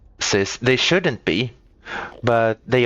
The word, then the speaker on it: cis: trans is called cis which is spelled c i s which also a lot of people get angry at. uh for just be called sis.